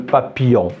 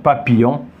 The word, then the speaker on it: papillon: c'est un insecte donc papillon voilà le y le pardon le I et les deux l on la prononcé il y a ils